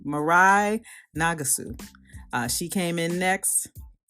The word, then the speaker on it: Mirai: that's the ice skater that's how she pronounced her name mirai nagasu she came in